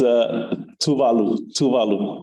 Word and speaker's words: Tuvalu: So it's Tuvalu. That's how you pronounce the Tuvalu, and the capital is Funafuti.